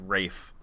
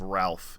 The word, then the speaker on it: Ralph: as Lex Luthor because it's pronounced Rafe instead of Ralph even though it's spelled